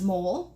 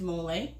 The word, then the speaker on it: mole: Mole, it reads as mole, but it's pronounced mole.